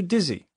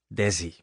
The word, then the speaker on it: Desi: and I'll call you dizzy okay Lucille but it's not dizzy Oh how do you say it Daisy no they seized a flower it's desi desi the next few lines